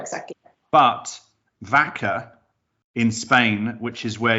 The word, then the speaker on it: Väcka: It doesn't spell the same, because it's just Vaca in Spanish, but it's the pronunciation is the same.